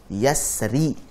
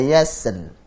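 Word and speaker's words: يسر: Ra sukun sebelumnya fathah itu tebal. Wal-laili idza yassar.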